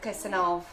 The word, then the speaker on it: Kirsanov: It's pronounced a V at the end. Kirsanov, isn't it?